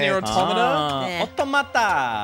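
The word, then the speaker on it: NieR:Automata: It's pronounced near automata.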